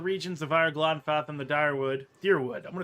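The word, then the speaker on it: Dyrwood: So it's Deerwood. It's just spelled with a Y because whatever.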